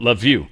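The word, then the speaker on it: Lviv: This is how bad I am with some of these pronunciations. But Lev is the name of that.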